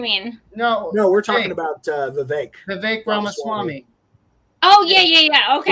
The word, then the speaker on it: Vivek: No, we're talking about Vivek Ramaswamy. Oh, yeah. Okay. Rhymes with cake.